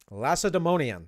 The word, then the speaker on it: Lacedaemonian: I'm gonna make sure I know how to pronounce this right now. Lacedaemonian. Lacedaemonian.